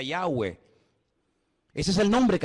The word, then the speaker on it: Yahweh: Ese nombre se pronuncia Yahweh.